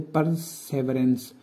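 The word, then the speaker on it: perseverance: इस तरह 21 पे आते हैं परसेवरेंस, सॉरी, यहाँ पे इसकी जो सही प्रोनाउंसिएशन है वो है परसेवरेंस।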